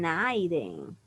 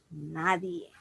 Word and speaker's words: nadie: Entonces, también he escuchado personas que en vez de decir nadie, dicen Naiden. Naiden me comprende y no es Naiden, es nadie.